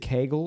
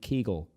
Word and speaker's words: Kegel: Here's to the pronounce question to you: Is it Kegel or is it Kegel? Kegel. It's Kegel.